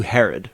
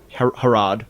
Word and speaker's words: Harad: on there this whole wasn't there a King Herod in the Bible there was it's spelled different okay yeah harad right maybe we should call it harad you're way down in